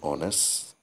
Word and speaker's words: honest: eel etc and plus nouns starting with silent h examples an hour and honest i mean an honest